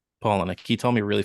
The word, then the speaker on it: Palahniuk: He told me a really funny story about Chuck Palahniuk. Is that how you pronounce it? Palahniuk. Palahniuk.